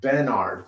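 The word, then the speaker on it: Bennard: Okay, Bernard is spelled B-E-N-N-A-R-D. Okay, not the regular Bernard, but Bernard.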